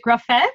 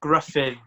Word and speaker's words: Gruffydd: so show me the the proper welsh pronunciation is it graphite yes sir it's griffin i do yeah my